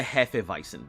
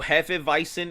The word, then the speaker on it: Hefeweizen: So Hefeweizen is with a W. W's are pronounced V's.